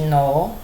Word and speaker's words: know: Passado de know não é que know, é know. Esse K não pronuncia. nem esse A é aberto.